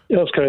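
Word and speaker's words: Earls Colne: Last word on this to Danny, who is in, how do I pronounce that? Earl's Colne. Earl's Colne, that's correct.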